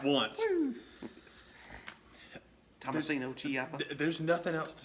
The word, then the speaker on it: Ciampa: And then you had the main eventer with Johnny Gargano and Tommaso Ciampa, whose name I always want to pronounce like it begins with a G, but I said it right that time, and I'm happy.